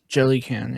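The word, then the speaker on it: Jelucan: Jellycan.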